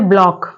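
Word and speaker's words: block: lake ऐसे ही अगला word है ब्लॉक ब्लॉक में भी सी साइलेंट है ऐसे ही अगला वर्ड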